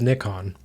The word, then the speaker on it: Nikon: It is Nikon.